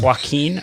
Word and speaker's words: Joaquin: where everyone is pleased that hurricane can you pronounce this formula joaquin joaquin okay thank you didn't land and create huge